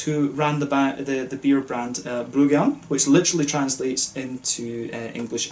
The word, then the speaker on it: Bryggeren: So in 2013, Tobias, who ran the beer brand Bryggeren, which literally translates into English as the brewer, and again this one really shows how difficult Danish pronunciation is, B-R-O-G-G-E-R-E-N, Bryggeren.